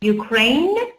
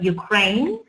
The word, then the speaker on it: Ukraine: Ukraine, you see we have silent E here. Ukraine, Ukraine, silent E.